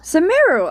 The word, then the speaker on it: Sumeru: From, I believe she's in Samaro, maybe? The letter says that Mom's friend lives in Sumeru. Sumeru! I got it right, even though I pronounced Sumeru wrong.